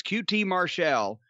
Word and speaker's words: QT Marshall: It's QT Marshall, faces Jake Hager.